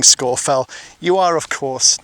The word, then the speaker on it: Scafell: But I do hope that this video has encouraged you and educated you so that you know that it's not Scarfell or Scarfell Pike, it is Scorfell.